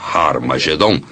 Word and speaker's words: Armageddon: testamento escritas em grego armageddon tem o som atirada no início o que significa que era pronunciada com h originalmente era raro mas geddon